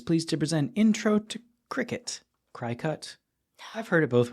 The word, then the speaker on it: Cricut: It's Cricut.